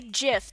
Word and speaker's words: GIF: I say gif. The creator said that's how you say it.